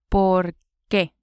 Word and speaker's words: por qué: ¿Por qué? ¿Por qué? 2 words and the accent on the E.